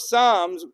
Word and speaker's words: Psalms: It says, we say in Hallel, it says in the book of Psalms, which is spelled with a P for some strange reason, just to confuse the Satan.